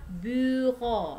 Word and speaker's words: bureau: Kemudian bureau ya, u itu dibacanya u ya, u. Terus e a u dibaca o ya, le bureau ya, su le bureau.